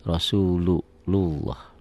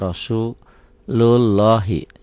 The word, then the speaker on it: Rasulullah: ya yang warna merah Rasulullah pertanyaannya lafaz Allah ini dibaca TV S tebal tebal Pak Ari Kenapa karena sebelumnya baris atas nih Rasulullah dibaca rasulullahi salah kalau orang baca rasulullahi Enggak salah emang tulisannya begini Makanya membunyikan lafaz Allah ini harus dengan guru jadi ini diibaratkan dibayangkan seperti ada w-nya gitu Rasulullah Rasulullah Ya Rasulullah